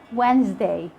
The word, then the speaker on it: Wednesday: and fascinate letter d letter d is silent in some of the most common words that that we use every day like when you say wednesday can't hear the sound of the d sandwich handsome in all these words you can't hear the sound of the d it's silent now with letter e